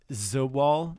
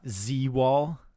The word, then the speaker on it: Zawal: It's Zawal, not Z-Wall.